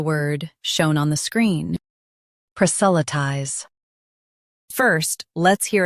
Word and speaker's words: proselytize: US says sa. UK says s. Focus on lie ties.